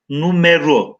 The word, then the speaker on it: numero: Numara diye okuyoruz ama arkadaşlar bu eski metinlerde çevirirken daha çok numero şeklinde.